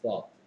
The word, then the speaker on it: thought: 조금 스펠링이 어렵죠. gh가 소리가 납니다. thought죠. thought. 있으나 마나 한 거고요.